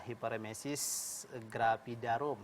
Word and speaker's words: hiperemesis gravidarum: Ini, Dok, ada hiperemesis gravidarum. Ini betul, Dok ya, cara pengucapannya? Iya, cara pengucapannya seperti itu.